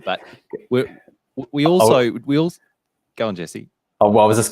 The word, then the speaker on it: Jesse: So in Portuguese, it's always Jesse. There's no 2 syllables, it's just Jesse.